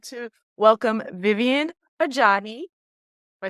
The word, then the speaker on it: Ajayi: Today, I'm really excited because I would like to welcome Vivian Ajayi.